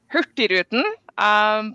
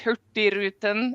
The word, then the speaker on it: Hurtigruten: Well, I am a country bumpkin from Norway, so even my Norwegian counterparts would probably balk at the way I pronounce the company name, but I say Hurtigruten, which actually is probably correct. Hurtigruten, it means the fast route.